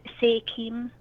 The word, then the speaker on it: SEIDHEM: And it's pronounced Sechum, or how did you pronounce it? Sekim? It's pronounced Sekim.